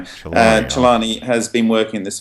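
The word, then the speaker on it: Celani: Okay, well, Francesco Chelani is how you say his name. Chelani has been working in this field for 23 years, since the beginning.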